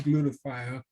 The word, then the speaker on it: glutathione: take my tire but if you want to learn how to pronounce glutathione just think about glue the tie on glue not um glue